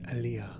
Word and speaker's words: Alia: Frank Herbert pronounces it alia Alia pronounced alia in arabic alia means high and exalted alia stressing the a david lynch's movie and